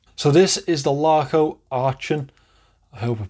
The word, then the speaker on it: Aachen: So this is the Laco Aachen. I hope I'm pronouncing that right. Aachen.